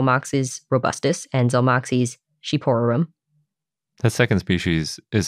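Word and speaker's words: shqiperorum: I would have never guessed that that was pronounced sheep to start yeah I had to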